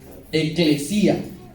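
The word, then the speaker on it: ἐκκλησία: La primera, la palabra iglesia, proviene del griego, eclesia, ¿sí? Se escribe E-K-L-E-S-I-A. Eclesia.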